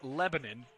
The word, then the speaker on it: Lebanon: to cumberland university and it's pronounced lebanon because you know when things are in the country you just change how they're actually pronounced in the world stage that's what's called arab